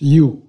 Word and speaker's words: Ryu: silent so real okay we we wrote Ryu but we pronounce you I am a neurologist